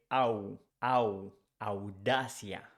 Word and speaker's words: audacia: for IA, audacity becomes audacia. Audacia. Here it's important to say that audacity sounds like O at the beginning, but in Spanish we don't say O, we say au, au, audacia, audacia.